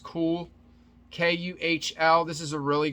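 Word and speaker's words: Kühl: this is another brand i think it's pronounced cool k-u-h-l this is a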